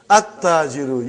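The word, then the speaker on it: التاجر: At-tajiru. You did not pronounce lam. Why you did not pronounce? Because it is sun letter.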